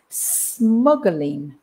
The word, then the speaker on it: smuggling: word the pronunciation is smuggling smuggling and the word is and the other word is smuggler and i think the problem that causes the problem with the pronunciation is the u because you want to